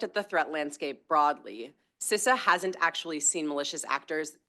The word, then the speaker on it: CISA: you're doing fits right into the work that sisa as you all know how to pronounce it now thank youum um is is